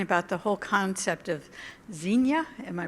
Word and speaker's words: Xenia: of time talking about the whole concept of Xenia am i pronouncing that correctly zinnia zinnia thank you as a concept of hospitality